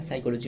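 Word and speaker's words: psychology: बट उससे पहले जो रहे फिजिक्स केमिस्ट्री पीस एंड और भी रहे जो कि साइकोलॉजी, याद रखिए साइकोलॉजी में पी साइलेंट वर्ड है, साइलेंट लेटर है साइकोलॉजी के क्षेत्रों में, और मेडिसिन एंड लिटरेचर इसके क्षेत्रों में दी जाती है नोबेल प्राइज।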